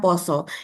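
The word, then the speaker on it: pasa: Tapi ternyata ee kalau di KR itu poso ya, bahasa Jawa itu ditulisnya P A S tapi bacanya poso yang artinya itu adalah bulan puasa.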